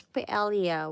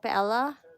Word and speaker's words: paella: We pronounce paella, what? Right? Paella. But in Spain they pronounce it paella, right?